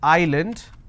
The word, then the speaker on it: island: solution all right but if I have a word which is Island I don't pronounce this as Island so s is silent here okay for example if